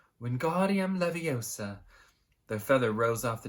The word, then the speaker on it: Wingardium Leviosa: You're saying it wrong, Harry heard Hermione snap. It's Wingardium Leviosa, not making the gar nice and long.